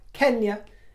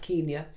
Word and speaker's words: Kenya: noticed as an aside the king pronounces words like Kenya as I do not Kenya as others do including those who whose families colonized those Shores but Kenya and also circumstances do